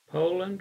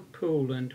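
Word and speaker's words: Poulan: as you well know Poland or pooland whichever pronunciation you desire this shows a fuel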